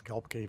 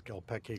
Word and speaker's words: Gelbke: It's Gelbke versus Gelpeke, Kloppe, or all those other things, too.